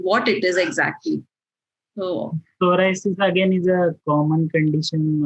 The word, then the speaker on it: psoriasis: Doctor, there's one more question who parent has asked about psoriasis. Have I pronounced it correctly?